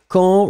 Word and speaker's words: quand: No N pronounced, final D not pronounced.